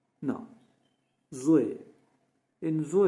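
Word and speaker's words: ظ: Now Zo in Zo you are touching your tongue to the front pallet and producing it from two sides of your mouth. Uh and this is also should be pronounced thickly.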